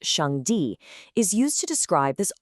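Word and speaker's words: 上帝: In the source text we're exploring the Chinese term Shang Di, pronounced Shang Di, is used to describe this ultimate source.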